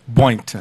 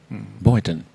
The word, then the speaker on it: Boynton: Boynton. Can you spell that? Boyton. Just like it said. Boynton.